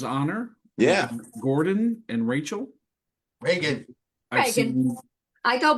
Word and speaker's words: Reagan: Reagan, Reagan. like the Exorcist.